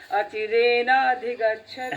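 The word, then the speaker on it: অচিরেণাধিগচ্ছতি: অচিরেনা মানে রে নাটা দীর্ঘ, হ্যাঁ, অচিরেনাধিগচ্ছতি।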